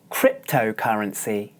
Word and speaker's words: cryptocurrency: listen as I demonstrate cryptocurrency cryptocurrency as you can hear this word has five syllables and the stress is on the first syllable that means that the